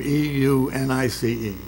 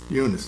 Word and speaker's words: Eunice: so anyway uh i don't know how to pronounce her first name e-u-n-i-c-e you know eunice eunice yeah that's it marsh uh she would